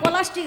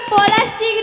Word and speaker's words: প্লাস্টিক: এই খালি সব মাসি বলি আমার হাতে একটু পলাস্টিক আছে বল মাসি ওটা পলাস্টিক নয় মাছি বুড়ি উচ্চারণও করতে পারেনি ওটা প্লাস্টিক প্লাস্টিক ওটা মাসি